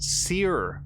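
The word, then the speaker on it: Cere: So apparently that's pronounced Seer, from what I've heard.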